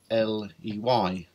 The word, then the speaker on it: ley: almost like a signpost, had the suffix L-E-Y, which most of them are pronounced Ley.